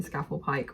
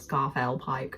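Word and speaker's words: Scafell Pike: up of us climbing scaffold Pike which I'm called scarf El Pike I kept saying it wrong um I showed you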